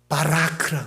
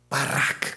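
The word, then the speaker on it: ברך: 히브리어로 뭐냐? 바라크라 그래요. 바라크. 한번 따 해보세요. 시작. 바라크. 복 받기가 싫으시구나. 바락을 해야 돼요. 바락. 그거 발음이 비슷해요.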